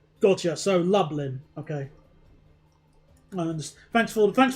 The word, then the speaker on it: Lublin: It's pronounced lublin. Gotcha. So, Llin.